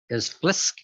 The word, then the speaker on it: Blisk: Currently, he's the owner and the CEO of Blisk. Is that how you pronounce it?